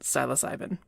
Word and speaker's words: psilocybin: Silas ivy and yes apparently the e at the end is not silent although I wish it was if you go to the Wikipedia page for the genus Silas ivy you can see the pronunciation listed as capital sy lowercase LOH capital sy lowercase B ee drop the e at the end and add an I in and you get psilocybin simple as that I